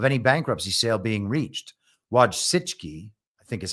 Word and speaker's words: Wojcicki: Wojcicki, I think is how you say her name.